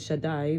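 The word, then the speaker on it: שדי: master, and then El, it's pronounced Shakai, but really it's Shin Daled Yud, Shaddai, which is the name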